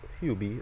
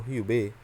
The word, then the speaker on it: Hubei: say people in Hong Kong who visited the hubie or Hubei or you by over pronounce it and our Province in China will